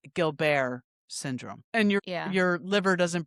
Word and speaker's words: Gilbert's syndrome: It's spelled Gilbert's syndrome syndrome, but it's pronounced Gilbert syndrome.